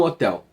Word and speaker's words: hotel: porque por exemplo um hotel a Hotel porque o hotel nesse caso o h do hotel ele é pronunciado tá então ele tem